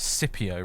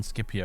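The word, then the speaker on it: Scipio: had to stop because the narrator could pronounced skipio as cpio rather than skipio and you couldn't stand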